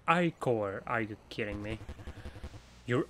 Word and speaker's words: ichor: I can feel it with magical ichor that's pronounced ichor.